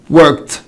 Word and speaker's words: worked: الكه ساوند شكل work work، بتنتهي بالكه ساوند فتبقى worked worked worked worked. يبقى الاي ما اتنطقتش والدي نطقت تي.